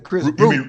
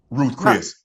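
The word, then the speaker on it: Ruth's Chris: I'm taking the kids to Chris Ruth. You mean Ruth Chris, huh? Who? Ruth Chris. Nah, Chris. Baby, what's the name of the restaurant? Chris Ruth, right? Ruth Chris. Oh shit, I said it wrong.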